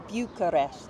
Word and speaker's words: Bucharest: as we were corrected and told the correct pronunciation is Bucharest Bucharest is the capital of Romania and home